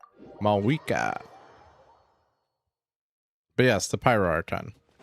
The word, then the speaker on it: Mavuika: I want to say MAVUIKA, but apparently that's wrong. MAVUIKA.